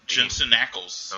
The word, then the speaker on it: Jensen Ackles: Jensen Ackles.